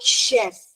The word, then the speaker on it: chef: In the word like chef, the sound of ch is sh.